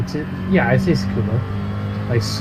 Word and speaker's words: Tsukuba: I say Tsukuba, like scuba, but Tsukuba.